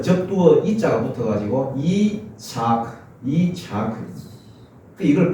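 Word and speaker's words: יצחק: 원래 발음이 이삭이 아니거든요. 원래 발음은 차크로 됐습니다. 차크. 웃음이란 말입니다. 그래서 그 접두어 이자가 붙어가지고 이차크.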